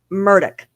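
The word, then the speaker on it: Murdaugh: It's Ell Murdoch.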